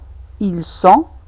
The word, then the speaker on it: il sent: Je sens, tu sens, il sent. Remarquez, il y a toujours pas de prononciation de T.